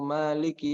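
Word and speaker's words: مالك: Nah, itu di situ belum sempurna, seakan dalnya hanya satu, Maliki Yaumiddin.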